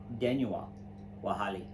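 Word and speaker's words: Danuwoa Wohali: Denua Wahali means warrior eagle, and it is spelled Danuwoa, and which is warrior, and then Wohali, which is eagle. So it's Denua Wahali.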